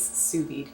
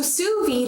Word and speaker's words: sous vide: second s ensu and you do say v-i-d-e but it's just pronounced veed so that's how you pronounce it so sous-vide in french literally translates